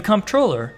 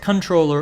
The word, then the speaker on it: Comptroller: System let's review the Comptroller sometimes pronounced controller or comptroller is a city-wide four-year